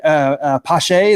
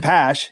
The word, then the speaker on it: Pache: I went last year, and is it Christian Pache, the guy for the the Braves center fielder? Yeah, but I mean, they were calling him Christian Pash. It's like they're mispronouncing his name and everything.